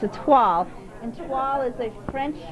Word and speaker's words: toile: Yeah, it's like the word toilet without the T.